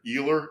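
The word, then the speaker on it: Uihlein: guy named uh richard ehler it's either spelled e e u h eli eli sorry e-u-h-l-e-i-n i looked at the pronunciation because i make sure i got it right richard eli is the heir of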